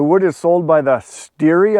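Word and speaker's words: stere: is sold by the steery i believe it's s-t-e-r-e so steer or steery correct me if i'm wrong on the pronunciation but it's either steer or steering and that is one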